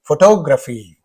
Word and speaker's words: photograph: Whenever it is photograph, then the stress is on the first syllable.